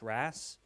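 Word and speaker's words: RaaS: robotics as a service which we pronounce Ras because it can't be Ross yeah uh and so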